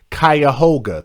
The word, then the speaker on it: Cuyahoga: And Kingdom Mining said it is pronounced Cuyahoga. Thank you very much. Cuyahoga. It doesn't look like Cuyahoga at all.